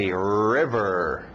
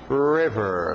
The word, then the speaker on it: river: nossos objetos vamos lá forte no R River River lembra exagera os RS no inglês River black black black quarteirão